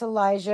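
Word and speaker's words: Alijah: And Elijah is spelled A L I J A H. just like Elijah, the boy's name, except instead of an E, it's an A. So, there's Miss Elijah, and I just love her.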